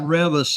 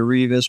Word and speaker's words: Reavis: And with a name like Reavis, it's always mispronounced anyway. I've grown accustomed to answering to Reavis, but you got it just right.